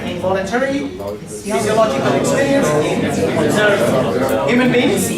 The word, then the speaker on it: physiological: This is not psychological. That's P. That's Y. This one is physiological, right? Again, syllables Y, PH, Y, P, C, O, Lo, G, K. Physiological, right? Again, why Lo would be louder? Because it ends with O. So the penultimate.